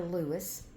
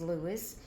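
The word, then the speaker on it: Luis: It's L U I S for Lewis. Uh, there's about three different uh spellings that I can think of right now, but I love the way uh it's spelled. L U I S. So I left it spelled that way and I left his name as Lewis and I gave him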